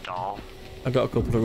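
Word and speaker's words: Dahl: D-A-H-L, which is pronounced doll.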